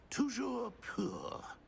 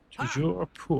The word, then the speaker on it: Toujours pur: Toujours pur. Toujours pur.